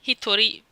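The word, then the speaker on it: 一人: But here you have Hitori me. You know the one is ichi, but it has different readings depending on how you put it.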